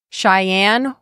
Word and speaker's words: Cheyenne: Cheyenne, Wyoming.